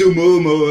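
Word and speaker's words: ʻOumuamua: in astronomy go on then oh well there's umumu as well by the way congratulations on the pronunciation did you get it right you did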